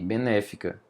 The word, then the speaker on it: benéfica: Esse aqui que está acentuado é uma proparoxítona aqui, benéfica. É uma proparoxítona. Todas as proparoxítonas são acentuadas, então já faz sentido, pode ser letra A.